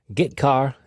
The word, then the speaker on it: getchar: The 2 most common C language character I/O functions are getChar and putChar. That's how I pronounce them.